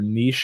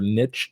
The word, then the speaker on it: niche: And on YouTube, we usually say find your niche or niche depending on how you say it.